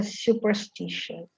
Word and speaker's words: superstitious: Io credo che sia superstitious. Con la U, non con la A.